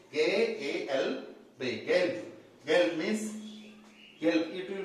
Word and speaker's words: gelb: If B come at the end of a word, for example, gelb, G-A-L-B, gelb.